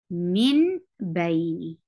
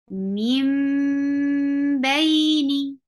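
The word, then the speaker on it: من بين: So originally there was noon sakin, and if we don't know the rule of iqlaab, we will say it min baini. Min baini, which is wrong. Now this ba has affected the sound of noon sakin and changed it into meem. So this iqlaab rule will be applied, and we will say it correctly like mim baini.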